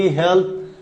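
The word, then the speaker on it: healthy: মজার একটা বিষয় আপনাদেরকে বলি, এই যে হেলথ, এখানে থ বলতেছেন হেলথ, কিন্তু যখন ওয়াই লাগাচ্ছেন অনেকে বলে হেলদি, আসলে হেলদি না, হেলথি বলতেছেন।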